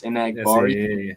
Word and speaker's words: Enagbare: I don't know how to pronounce that one guy's name. Kingsley Enagbare. Yes, Enagbare.